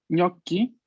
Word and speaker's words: gnocchi: Atención, en italiano, muchas veces en las palabras que tienen tres sílabas, el acento recae en la primera, ¿no? Isole, isole. Luego tenemos gnocchi y gnocchi.